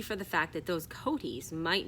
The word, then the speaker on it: coatis: These are coatis, Mrs. Brisbane said, reading from the letter, pronounced coatis.